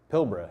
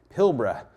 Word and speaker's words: Pilbara: They're found in the Pilbara. You got to say it like an Australian. I get made fun of by my friends over there saying Pilbara. So Pilbara in Western Australia.